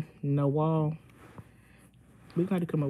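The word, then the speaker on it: Nawal: Gene hey no girl how do you say your name n-a-w-a-l-10 no wall we had to come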